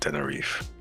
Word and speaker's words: Tenerife: The last E is silent. Tenerife.